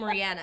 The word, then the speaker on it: Rihanna: I always say her name Rihanna, because I heard her in an interview say her own name, and she said Rihanna.